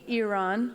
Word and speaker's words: Iran: Is it Iran? Ooh. Iran. It's Iran. You can say Like Iran. with an E, yeah.